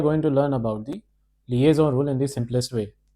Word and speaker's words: liaison: Why does that z sound appear in their pronunciation? So today we are going to learn about the liaison rule in the simplest way.